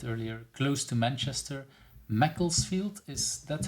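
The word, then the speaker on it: Macclesfield: UK like you said earlier close to Manchester Mecklesfield. Is that how I should pronounce this?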